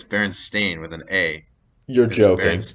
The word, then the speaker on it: Berenstain: one um so it's is it a berenstein with an e or varence stain with an a is it not berenstein it no it's berenstain with an a you're